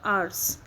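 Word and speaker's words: hours: आर्स में आर के बाद एस है तो आर का साउंड नहीं आएगा, आर्स, एच भी साइलेंट है।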